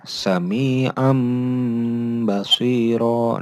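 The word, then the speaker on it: سميعا بصيرا: Nih dibacanya sami'am basiro. Nah, sami'am. Nah, ini kena huruf tanwinnya bertemu dengan huruf ba. Jadi sami'am dibaca seperti huruf mim.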